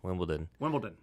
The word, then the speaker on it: Wimbledon: Wimbledon. The most mispronounced word in sports. Really? Million people over the weekend. I won't name it who. Yeah. Very prominent sports guy. Wimbledon. It's a D, not a T.